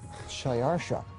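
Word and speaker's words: Xšayāršā: His Persian name, in Old Persian, which is his original native language, is Shayarsha. Now that was hard for the Jews to pronounce, so they said Ahashverosh.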